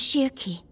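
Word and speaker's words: Schierke: to let them in the house my name's Shirkey oh that's how you pronounce her name I genuinely didn't know that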